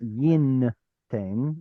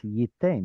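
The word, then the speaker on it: יִתֵּן: It's not yin ten, it's yiten, where the noon goes, missing.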